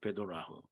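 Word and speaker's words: בדלח: 말이고요 거기 벧엘리움이라고 했는데요 사실은 그 정확한 발음은 되도라 합니다 베도라호 그리고 베도라흐는 우리가 너무나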